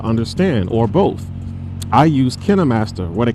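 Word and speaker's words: KineMaster: I use Kinnam Master with a K.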